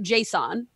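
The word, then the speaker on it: JSON: I pronounce it Jason.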